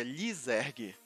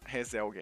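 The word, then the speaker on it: Lyserg: Algo mais próximo, que imagino principalmente por causa da escrita do nome dele, seria Lizerg, a pronúncia do nome. E não Rezelg.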